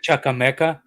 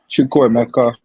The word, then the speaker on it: Chukwuemeka: Like I said, getting people like Hutchinson and Chukwuemeka, these His guys name is not Chukwuemeka. Chukwuemeka. Exactly.